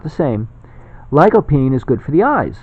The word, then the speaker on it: lycopene: for it to arrive it's lycopene that how it's pronounced ly co PE ne and it's a extract